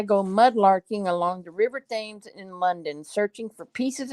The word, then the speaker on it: Thames: Pronounce it Thames.